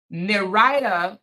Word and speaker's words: Nirida: I know it's not Nidra, it's Nirida says, so you always believe the female?